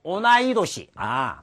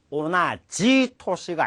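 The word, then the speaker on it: 同い年: 그런데 지금 또 도우기 나와 동기 즉 같은 시기에 알바를 시작한 온나노꼬가 이룬데스가 여자아이가 있습니다만 오나이도시 동갑을 오나지토시가 아닌 오나이도시라고 발음한다는 거.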